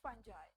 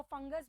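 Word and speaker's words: fungi: और अगर अब हम बात करते हैं, नेक्स्ट किंगडम इज फंजाई, और इसको फंगस भी कहते हैं, फंजाई भी बोलते हैं, फंगी भी बोलते हैं। तो इसको किसी भी तरीके से आप प्रोनाउंस कर सकते हैं।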